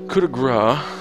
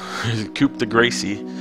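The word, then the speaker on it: coup de grâce: He didn't say it like that, but coup de grace is how you say that to Queen Goma.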